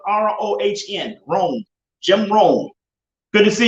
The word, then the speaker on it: Rohn: to look up jim rohn his last name is spelled r-o-h-n rome jim rohn good to see you john jackson